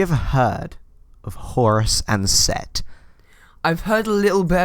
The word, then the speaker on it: Set: He's also spelt Seth as well. Like in any sort of like mythology, he's spelt Seth. I think it's pronounced Set still though.